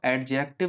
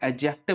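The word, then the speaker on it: adjective: pronounce करना सिख लीजिएगा इसको एडजेक्टिव नहीं बोलते हैं एडजेक्टिव बोलते हैं यह दी साइलेंट बोलते हैं यहां पर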